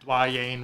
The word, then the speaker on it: Dwyane: What about Dwayne Reed? Wade. Reed? Dwayne Oh, Wade. Dwayne Wade? Dwayne Wade. Dwayne. It's spelled weird, isn't it? Yeah. It's duh Pronounced and then Wayne. Dwayne.